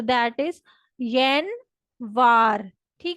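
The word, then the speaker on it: январь: जनवरी को Russian language में कहते हैं यन वार।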